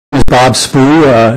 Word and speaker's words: Spoo: is Bob spoo uh it's spelled SPO and I'm the head football coach